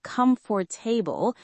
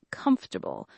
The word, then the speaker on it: comfortable: Yes, many people say comfortable with four syllables, but native speakers usually say comfortable with three syllables.